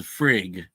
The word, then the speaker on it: Frigg: You don't pronounce the G.